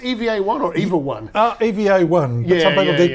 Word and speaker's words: EVA-1: Is it pronounced EVA-1 or EVA-1?